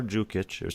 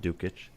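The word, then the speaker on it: Đukić: rookies like lazar lazar zhukich we found out how to pronounce that it's not dukich and his brother both qualified they're brothers oh wow 25 and 22.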